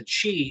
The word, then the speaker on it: Qi: Well, there was a there was an upgrade recently from the chi.